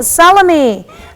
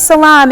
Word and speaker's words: Salaam: and down in Diamond Alexis salami excuse me salmon I'm still pronouncing that last name wrong Salam Salam I think that's right Alexis salaam is 12 years old